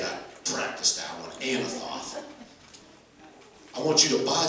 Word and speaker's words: Anathoth: While he's in prison, God says, I want you to buy the field of Anathoth. And that is how you say it. I practiced that one, Anathoth.